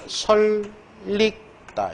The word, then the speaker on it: 설익다: 최종적 발음이. 따라서 솔립 리을 다음에 얘는 설릭다 이렇게 다음에 얘는 불려우 리을로 자 여기는 서울역